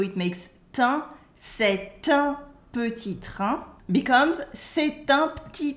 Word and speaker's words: petit: For instance, petit. Petit means small or short, and the final T in petit is silent. Repeat after me. Petit. Petit. Petit is often pronounced petit because we remove the E.